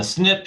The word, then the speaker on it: SNP: It's pronounced SNP, for single nucleotide polymorphism.